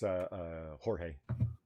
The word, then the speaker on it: Jorge: I keep assuming his name Jorge Arenas, because sometimes that actually is George when it's spelt like that. Yeah. Yes, sometimes there's no telling, but based on the last name, I go with Jorge.